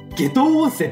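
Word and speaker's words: 夏油温泉: てかゆでいい夏温泉と書いて下等温泉って読むんだへえ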